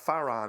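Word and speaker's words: Faran: spelled is is pronounced Faron it's it's the difference between the letter P and Fay and Faron is the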